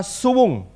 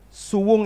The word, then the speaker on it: suwung: Di Jawa itu misalnya kata suwung. Suwung itu S-U-W-U-N-G. Itu artinya kosong. Suwung atau tidak berpenghuni. Itu bacanya bukan suwung, suwung.